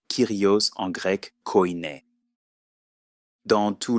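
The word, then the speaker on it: Κύριος: Il ne l'appelait que Dieu Père ou Seigneur, ce qui se prononce Kyrios en grec koiné.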